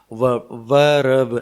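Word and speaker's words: verb: इसमें आर लगभग साइलेंट है और ना बोला जाए तो बढ़िया है, और हम हिंदुस्तानी हैं इसलिए कभी कभी रह मुंह से निकल भी जाता है। वर्ब, ऐसे वर्ब, तो वर्ब बोलें, कोई दिक्कत नहीं है,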